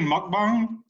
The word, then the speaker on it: mukbang: Hey, this reminds me of, do you know the Korean mukbang? Yes. Mukbang, this is yes. What this reminds me of. Did I pronounce it right, Jason?